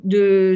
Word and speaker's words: deux: 012 j'explique quand même que deux ça se prononce de et qu'on prononce pas d' x donc je vais apporter